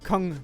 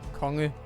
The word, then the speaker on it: Kong: E at the end to go from 2 syllables to 1 and say Kong Niels instead of Konge Niels.